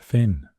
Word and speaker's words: Fionn: Theon could be pronounced Finn in some places and Finus Fineus was